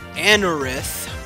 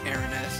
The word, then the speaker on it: Anorith: As for the fossil Pokemon that we've got access to, we've got Anorith, not Aranith. I horribly mispronounced that during the episode, but it's too late for that now.